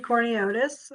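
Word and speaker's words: Courniotes: last name corneotis well it's spelled uh like it sounds exactly yeah that was pointed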